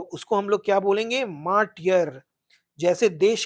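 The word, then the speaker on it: martyr: मार्टियर pronunciation पे ध्यान दीजिए।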